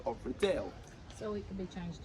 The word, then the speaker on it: Riddell: That's right, I did say Riddell, and it's not because I'm terrible at my job. It's actually because if you look at his name here, it is spelled Riddell, D-E-L-L. Of course, we know in the Harry Potter series, our notorious leader is actually called Thomas Riddle, spelled D-L-E.